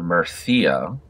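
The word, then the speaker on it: Murcia: large french army here mercia or marthia as you might pronounce it let's go ahead and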